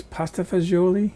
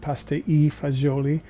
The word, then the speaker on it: pasta e fagioli: And one of my favorites is, it's known in this country as pasta fagioli. You see it on menus often as pasta fagioli. In Italy, they pronounce it pasta e fagioli, pasta and beans.